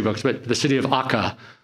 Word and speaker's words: Akka: but the city of akka sometimes pronounced acre acre akka in Israel